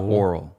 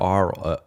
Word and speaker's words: aural: They're like kind of presenting this weird aural. Is that how you say it? Aural? Yeah, I think so. It's not oral, but aural. Like A-U.